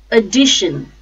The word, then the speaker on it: addition: Addition, addition. R, first syllable, D, second syllable, shin, third syllable. The stress is on D.